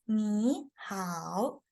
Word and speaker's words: 你好: How do we pronounce 你好? It's 你好, 你好.